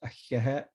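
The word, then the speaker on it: Ahéhee': It's pronounced ahiahet.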